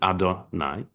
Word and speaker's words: Adonai: There's one spelled yud and he and vav and h, but we we it's pronounc it adonai and there's one elohim.